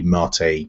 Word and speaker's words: MATE: it's a bu to 1410 but with the Marte desktop which looks very similar to the old